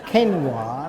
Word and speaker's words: quinoa: during the process is to actually pronounce this as quinoa, not so that was very educational for me.